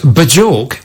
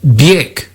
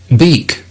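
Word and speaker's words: Björk: Ronnie emails, Bajork is actually pronounced Biek, as in I in bird and Y in by. Beak.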